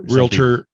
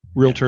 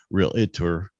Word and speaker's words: realtor: know how that different things mortgage the t is silent yeah because they're realtor realtor of the uh is silent yeah because a lot of people say real it or it's like there's it's not lawyer tour or